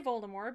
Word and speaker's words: Voldemort: Ron just doesn't like when people say Voldemort because he finds the silent T at the end to be pretentious as I